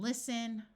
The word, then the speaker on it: listen: wrestle Apostle and whistle words ending in sen also have a silent T like in listen oi says o so